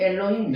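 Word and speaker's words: אֱלֹהִים: 중간에 들어가면은 L 여기 위에 O 발음 나죠. L힘 엘로힘 예.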